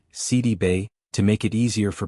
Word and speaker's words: Sidibe: She explained that the accurate pronunciation is actually CD Bay. She noted that the name originates from Seneagali's roots carrying accents and tonal elements that are not typically used in everyday American English.